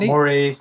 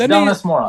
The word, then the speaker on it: Donice Morace: So the correct one is Donice Morace. Oh. Not Donice, not Morace, not Donice Morace. It's Donice Morace.